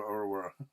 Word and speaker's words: Oruawharo: pronounce or whatever but you know the locals are called aurawa so I'm going to stop